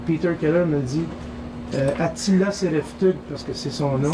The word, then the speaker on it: Sereftug: À un moment donné, je reçois un coup de téléphone et Peter Keller me dit Attila Sereftug, parce que c'est son nom.